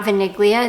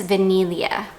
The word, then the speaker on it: Vaniglia: you don't pronounce it you don't pronounce the G it's not vaniglia it's vanilia so kind of like